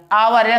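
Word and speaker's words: hour: इसलिए ए लग गया आवर साइलेंट हो गया आपका आवर पढ़ा जाता बड़ा से तो यहां एन लग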